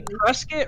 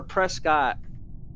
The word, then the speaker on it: Prescott: American than you wait do you say presc or Prescott Prescott yes presc no every Arizona calls it Prescott no it's Prescot no